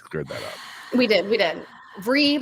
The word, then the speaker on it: Vrykolakas: Vrykolakas. Like free Ricolacas.